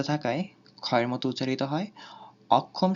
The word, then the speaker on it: অক্ষম: অক্ষম শব্দে শব্দের মাঝখানে থাকায় কয় হসন্ত ক্ষয় ওকারের মতো উচ্চারিত হয়।